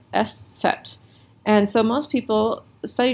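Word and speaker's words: Eszett: about the s set this is how you say the letter s set right s set that's that's how you pronounce that letter s set and so most people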